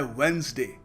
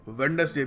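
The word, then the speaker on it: Wednesday: gauge अगला शब्द है वेनसडे वेनसडे काफी बार जब हम फ्लो में इंग्लिश बोल रहे होते हैं तो ध्यान नहीं जाता बट हम गलती से वेडनेसडे भी कह देते हैं और कई लोग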